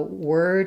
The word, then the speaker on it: word: but the sound of So word is just the word were plus d.